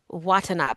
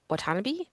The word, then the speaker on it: Watanabe: Um, we pronounced the name of Terren Watanab incorrectly in our show about it is Watanab. I think you said Watanabe. Watanabe. But it's Watanab.